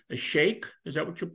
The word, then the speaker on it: sheikh: You tell me if I'm pronouncing this correctly. A sheikh, is that how you pronounce Hey, it?